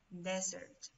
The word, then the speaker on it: desert: Pero si no estamos en medio del desierto, oh my God, we are in the desert. Desert. Okay, se escribe con una sola S.